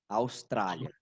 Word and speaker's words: Australia: Isso, Austrália, fala com A. Austrália. Austrália, Isso, né? mas é LA mesmo, Austrália.